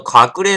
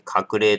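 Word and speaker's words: 鶴齢: 朝日山ああとこの隠れ飲んでみたいんですよ隠れまああの鶴の鶴の年齢の例と書いて隠れと読むんですねこれね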